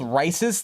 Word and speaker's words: Rice's: is rice's theorem so think of it the way it's spelled it's just like rice the food uh rice's theorem but